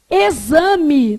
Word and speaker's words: exame: Exame tem som de quê? De Z. E sexo tem som de quê? KS. Beleza? Então, eu estou te mostrando que o X ele pode emitir vários sons diferentes. Flávio, como é que isso cai numa prova? Eles vão lá e perguntam assim, ó, assinale a alternativa em que todas as palavras apresentam X com som de Z.